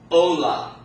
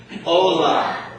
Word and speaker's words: hola: Therefore, the accent is going to fall on the second to last syllable, which would be the what? The O. Okay? So that word is going to be pronounced Ola. Not Ola, but Ola.